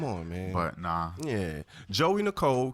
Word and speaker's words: Geauxie: Geauxie Nicole, ladies and gentlemen. Geauxie Nicole. Okay. Now it's spelled Geauxie. Yeah. That's how they spell Joey, but it's pronounced Joey, like Joey.